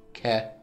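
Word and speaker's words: け: We pronounce these syllables the same way, but we put a ka, a K in front.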